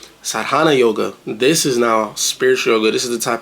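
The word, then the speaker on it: sadhana: in the past but sadana I don't even know if I say that right but I know it's spelled s a d h a n a sadana yoga this is now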